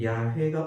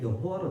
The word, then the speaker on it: 여호와: 어떤 사람들은 야훼가 옳은 발음인지 여호와가 옳은 발음인지 모른다. 그런데 히브리어 밑에는 발음하는 발음 기호를 표시를 해놨거든요. 그 발음 기호의 표시에 따라서 여호와와 관련된 사람들의 이름을 읽으니까 여호와로 나온다는 말입니다.